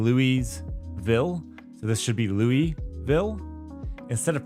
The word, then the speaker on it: Louisville: of pronouncing it Louisville these fine citizens call it Louisville just you just kind of slam it all together and forget that there's an S or an I in the middle of it and if